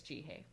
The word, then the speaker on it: Jihae: uh hi and i'm ji hey and it rhymes with like the letter g and like you're saying hey that's how i remembered